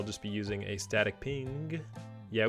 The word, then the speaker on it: PNG: So I'll just be using a static ping. Yeah, we say ping. Me and Prince are using ping. PNG just takes too many syllables. So we're saying ping.